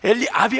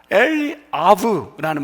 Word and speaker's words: 엘리압: 9절에 엘리압, 이 끝에가 사실 아부가 엘리압이 아니라 원래는 엘리아브라는 말, 아부가 아버지예요.